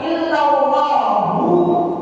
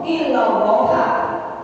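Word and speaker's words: إلا الله: Kemudian kita lanjut, wa rukun tsani, rukun yang kedua itu terkandung pada kalimat illallahu, illallaha. Bisa illallahu, bisa illallaha bacanya. Hanya Allah saja, hanya Allah semata.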